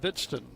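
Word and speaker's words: Hvidsten: Young man spells his name H V I D S T E N. He is from Minnesota. You getting that down? Silent H. Pronounced Bidston.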